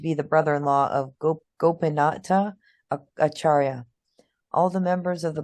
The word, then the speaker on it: Acharya: The C is pronounced CH. Acharya, who was known to